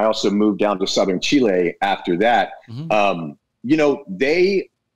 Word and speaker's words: Chile: your blueberries are from we pronounce it chili here but it's Chile right if you get your